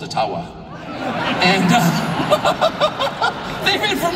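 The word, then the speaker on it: Ottawa: but thank you and I I called it atawa many many times and I would get these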